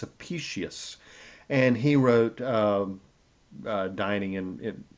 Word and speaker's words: Apicius: Um, Apicius, by the way, a couple of shows ago I called him Apicius. Well, it's not Apicius. I finally learned from an Italian friend how to pronounce his name. It's Apicius, and he wrote dining